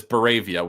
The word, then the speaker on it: Boravia: God, I'm gonna get this name wrong. Is it Boravia? Barovia, right? Isn't that Boravia. Baravia? Yes. Okay. It is Boravia.